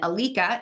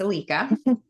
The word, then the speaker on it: Ilike: Hungary and that's how it's spelled and then Alica is how you pronounce our products everybody trashes the name it's okay but it's Alica and so in the United States we're known